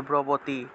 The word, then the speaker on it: ব্রবীতি: এই যে ব্রবতী শব্দটা আছে, ব্রবতী, এই ক্ষেত্রে দেখুন প্রথম বয়ের নিচে রফলা আছে, এটা হলো কিন্তু বর্গীয় ব, আর পরের যে বটা আছে এটা হলো অন্তস্থ ব, তাহলে ব্রবীতি, ব্রবীতি, অর্থাৎ প্রথমটা ব উচ্চারণ করব, পরেরটাকে ওয়া উচ্চারণ করব, ওয়া।